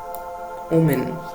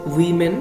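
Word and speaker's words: women: ওমেন এরম করে উচ্চারণ করবে না, এই শব্দটার উচ্চারণ হচ্ছে উইমেন বা হিউম্যান, এরম ভাবে উচ্চারণ হবে।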